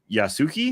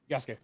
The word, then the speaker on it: Yasuke: Offering guidance and missions, Shadows introduces Yasuki. Is that the correct way to say, Job? Yasuke. Yep, Yasuke.